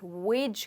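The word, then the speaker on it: wage: इस वर्ड में जो जी है, इसको हम वेग नहीं कहेंगे बट वेज कहेंगे।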